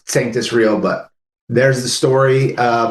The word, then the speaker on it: Sanctus Real: question a lot and a lot of people mispronounced it. Uh, we mispronounced it. So, there you go. But yes, it's sanctis real.